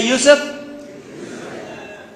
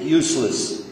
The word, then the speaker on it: Yusuf: do it in English my name is Yousef can you say Yousef they got it right the very first time masah my wife still pronounces it useless could be a speech